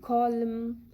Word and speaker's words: column: now the silent n the letter n is not pronounced or is silent when it is in the end of the word and letter m precedes it like in column damn solemn autumn in all these words letter n is not heard it is silent letter p letter p